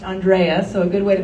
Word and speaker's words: Andrea: name is Andrea and my name is pronounced Andrea so a good way to think of it